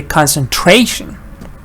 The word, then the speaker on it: concentration: communicate but concentrate concentrating but when you add Shen t-i-o-n the stress is shift to the end of the sentence end of the word say concentration concentrate concentrating concentration right